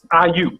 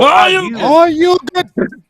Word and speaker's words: Ayuk: Ayuk. There you go. So Ayuk.